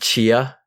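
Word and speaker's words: Tchia: what i was thinking is it chia is that it's pronounced i think so yes i believe the t is mostly silent all right this is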